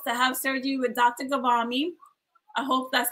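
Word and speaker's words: Ghavami: Gavami?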